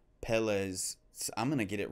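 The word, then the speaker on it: Pelé: So Pele. That's how Pele. I'm so bad at pronouncing things, anyways.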